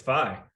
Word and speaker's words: Feigh: It's Feigh.